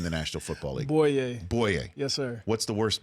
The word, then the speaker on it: Bouye: Because I think it's the most mispronounced name in the National Football League. Bouye. Bouye. Yes, sir. What's the worst botching you've heard of it? Bouye, Bouye, Bouye, Bougie.